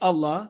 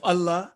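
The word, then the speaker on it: الله: is divine word of allah as always pronounced is always pronounced with thick or heavy sound if preceded with a letter carrying fatha or dhamma and it is pronounced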